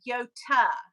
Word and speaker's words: Yota: I pronounce your name Yota. And it's because that is how your name is pronounced.